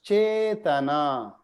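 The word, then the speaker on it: caitanya: all long elongated so even though it says just a it's actually a so it's chaitana very good very good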